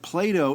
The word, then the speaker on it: Play-Doh: They all are, like, Play-Doh isn't D-O-U-G-H, it's phonetically spelled D-O-H.